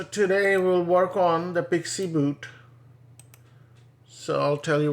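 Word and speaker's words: PXE: preboot execution uh preboot execution environment so it's pronounced pixie Pi iix i e okay so PX spec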